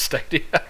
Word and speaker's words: Stadia: i'm pretty sure i'm pretty sure it's steady i don't know there's no r in there i'm just a simple